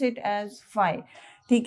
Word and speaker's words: phi: तो फ्लक्स को हम डिनोट करते हैं बाय a symbol, we call it एज फाई, PHIE इज the spelling, and we call it एज, we pronounce it एज फाई, ठीक है।